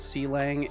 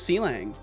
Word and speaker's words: Clang: when I called it C Lang it is it really is pronounced like a falling metal pipe really so it's pronounced clang I always thought it was seang what a cutie b